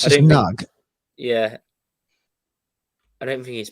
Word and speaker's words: Nagy: It looks like it's Nagy, but he says it's Nug. It's really weird. It's just Nug.